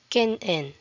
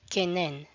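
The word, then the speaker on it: kin'en: For example, kinen, kinen, not kenen.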